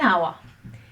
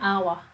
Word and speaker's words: hour: so we say n hour because the pronunciation we drop the h so we go n hour so this is the